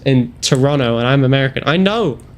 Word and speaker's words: Toronto: Max, I don't pronounce the second T in Toronto. In Toronto, and I'm American.